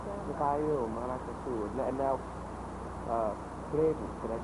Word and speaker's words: Frevo: Samba, the Bayou, Maracatu, and now, Frevo, can I pronounce that correctly?